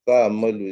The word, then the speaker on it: سأعمل: The way you pronounce Sa'amalu is like you are saying Sa'amalu is Sa. Sa means I will. Sa, soon. Sa means soon. Sa. A'amalu. A'amalu itself is a verb.